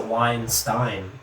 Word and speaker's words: Weinstein: with uh harvey weinstein he's a weinstein you know like einstein remember but this is